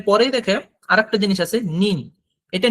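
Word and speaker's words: 您: কিন্তু এইখানে একটা দেখার বিষয়, সেটা হলো যে নিতে কিন্তু থার্ড টোন, বাট নিন এ সেকেন্ড টোন। সেক্ষেত্রে উচ্চারণটা কিন্তু এখানে আলাদা হবে। যেমন নি, সেখানে থার্ড টোনটা ইউজ হয়েছে, আই এর ভয়েসটা আপ থেকে নিচে এসে আবার বাড়ছে। বাট নিন, এখানে আই কিন্তু ডিরেক্ট নিচ থেকে উপরে হয়ে গেছে, ভয়েসটা ইনক্রিজ হবে।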